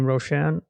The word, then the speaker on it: Roashan: My name is Roashan.